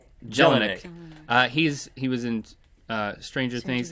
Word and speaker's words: Jelinek: Jelinek. Jelinek.